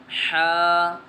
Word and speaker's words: ح: لہجے میں ادا کریں، اردو تلفظ سے پرہیز کریں، یعنی بے، تے، سے، حے، خے، طے، غے وغیرہ ہرگز نہ پڑھیں، بلکہ با، تا، سا، حا، خا، طا، ظا پڑھیں۔ اس مثال کو ہم